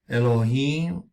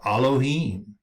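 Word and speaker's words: אֱלֹהִים: The first letter, Aleph, which we see here, this letter right here, Aleph, naturally would have the ah sound, as in aloha, but the Masoretes gave it an eh sound by adding the dots under the Aleph called hataf segol.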